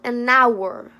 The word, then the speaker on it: hour: Mas tem 4 palavrinhas, apenas 4 palavrinhas no inglês que a gente não pronuncia o H. Uma delas é hour, hour, an hour, an hour, an hour.